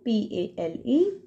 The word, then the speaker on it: pale: that is pal, and add a E in the end of the word. The word will become P-A-L-E, pale. That is a long A sound word.